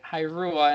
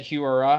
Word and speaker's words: Hiura: Yeah, it's hard because I mean you were saying Hirua and I was saying Hiura.